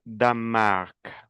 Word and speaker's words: Danemark: Le Danemark, no se pronuncia la E. Le Danemark.